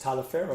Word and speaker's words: Taliaferro: Like it's Taliaferro, No.